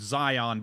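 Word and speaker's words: Xion: I mean my old DM the monotheistic religion in his setting worshiped a god named Zion but spelled X I O N.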